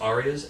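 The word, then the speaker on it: ARIA: uh tell me a little bit about they're pronounced Aras a r i what's like the Australian Grammys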